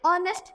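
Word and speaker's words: honest: तो एच से स्टार्ट हो रहा है पर यहाँ पर एन आया, क्यों, क्योंकि यहाँ पर है साइलेंट. एन आया. एन ऑनेस्ट पॉलिटिशियन, तो यहाँ पर एच साइलेंट होने का काम कर रहा है, इसीलिए यहाँ पर एन आया, क्योंकि वोवल वाली साउंड आ रही है.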